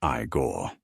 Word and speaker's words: Igor: No, it's pronounced Igore.